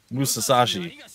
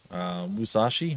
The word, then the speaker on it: Musashi: be that legendary swordsman Musa Sashi Musashi Musashi they're an extra syllable in there wait a second Gramps